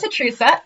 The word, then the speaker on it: HATRUSA: talk about other stuff podcast also known as atrica if you say it right and this week